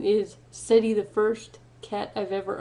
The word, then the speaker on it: Seti: don't know my cat's name is seti it's spelled s-e-t-i and his full silly name is City the first cat I've